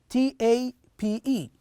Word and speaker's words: tape: do you spell tab t-a-p-e and here how do you say it keep that's right next number seven tape t-a-p-e notice here since there is an e we say a so we we spell